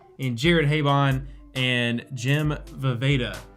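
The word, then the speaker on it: Vejvoda: Jared Habon and Jim Vaveda, whose name I made sure to learn how to pronounce this time because it's not Vegeta.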